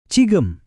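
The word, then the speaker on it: 지금: Dalam bahasa Korea itu adalah cigem.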